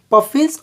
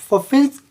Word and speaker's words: Pfaffian: ठीक है, तो ये पफिन इसको बोल सकते हैं, या फिर यहाँ पर कभी कभी मतलब कुछ लोग इस पी को साइलेंट मान के चलते हैं, इसको पफिन्स डिफरेंशियल इक्वेशन बोलते हैं।